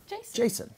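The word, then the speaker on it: Jashin: different it's very unique it's j-a-s-h-i-n yes but it's pronounced jason jason so tell us uh tell us the story of jason okay well at first i was told that my mom just wanted my name to be different right and uh so even though the pronunciation was the same spelling had to be different so the h is silent in my name okay so i'm 15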